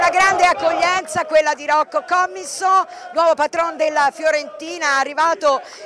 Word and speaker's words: Rocco Commisso: Rocco Commisso, questa è la giusta pronuncia anche se ha detto